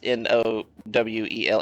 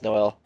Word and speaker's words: Noel: spelled the same but Noel is n o w l l like a normal person would say na nowl but it's Noel um offensive line doesn't look